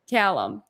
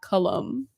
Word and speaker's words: Callum: Callum. Yeah. Callum, all right, It's Callum, not Cullum.